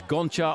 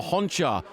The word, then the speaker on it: Gonchar: about Gonchar's name recently, whether it's Gonchar or Honchar. He himself actually calls himself Gonchar, and he would like us all to accept that. I think it's the way you pronounce the G in his language. It sounds like an H.